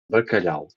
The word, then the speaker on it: bacalhau: So here's the thing: when you have an L and a H, you pronounce that syllable.